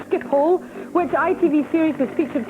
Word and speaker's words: Schiphol: Which city is served by Schiphol Airport? Frank? Amsterdam. Yes, it is Amsterdam. I did mispronounce that. It's Schiphol.